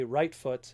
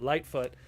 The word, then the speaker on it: Lightfoot: And then you have Lightfoot, aka Rightfoot, if you pronounce it like the Japanese, but Lightfoot.